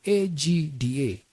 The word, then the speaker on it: AGDA: Look, I have an urgent message for you from AGDA. It's pronounced Agda, as word Agda.